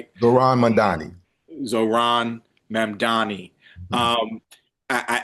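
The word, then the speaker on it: Mamdani: Uh, even the mayor elect of New York, uh, Zoran Mammi, I think I'm saying it right. Zoran Madani.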